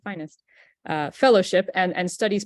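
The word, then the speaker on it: FINESST: and technology or finest I think some people pronounce it finessed I've always pronounced it finest uh fellowship and and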